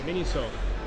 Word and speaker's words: Miniso: Moshe, do you know how to pronounce the name of this freaking place? Is it Japanese? Yeah, Miniso.